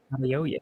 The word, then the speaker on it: Adeoye: I can't pronounce Adeoye. Adeoye.